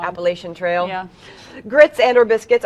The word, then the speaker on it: Appalachian: so good you know the proper pronunciation of appalachian it's so funny when it comes across the news sometimes and you hear someone read it wrong appalachian trail grits and or